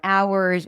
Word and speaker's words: hour: But that's not the case for ours or honor and the other words.